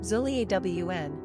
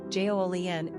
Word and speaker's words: Julien: Pronunciation, zhoo-lee-AWN, French, Julien, English.